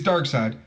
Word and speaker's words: Darkseid: It is Darkseid, but it's S-I-D-E. S-I... Oh, it is. Just regular side. But it is Darkseid.